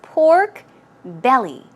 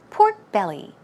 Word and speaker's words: pork belly: part right so it's pork belly stress goes right here on the belly pork belly pork belly great job